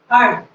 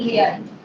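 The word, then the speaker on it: heard: ही हर्ड, ये जो word है हमारा, वैसे तो मीनिंग तो सभी जानते हैं इसका, इसकी प्रोनाउंसिएशन क्या है हमारी, हर्ड, ना कि हेयर।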